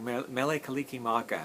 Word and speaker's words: Mele Kalikimaka: It's literally, phonetically, Merry Christmas. If you were speaking Hawaiian, that's as close as you can say. Merry Christmas would be like Mele Kalikimaka.